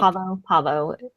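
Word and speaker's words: Pahvo: Had they mentioned Parvo before? Do you guys remember? Nope. Pavo. It sounded Pavo. like Parvo in the show, but it's spelled P-A-H-V-O, Pavo.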